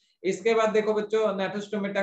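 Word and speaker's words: Gnathostomata: है तो एग्नेथोस्टोमेटा कहेंगे, अगर जॉ प्रेजेंट है तो नेथोस्टोमेटा कहेंगे, जी इज साइलेंट हियर, ठीक है, तो इसको नेथोस्टोमेटा कहा जाता है।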